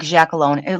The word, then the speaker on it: Giacalone: It's Yeah, pronounced like Giacalone. Like if you say it Italian, it yeah. would be like Gia Cologne.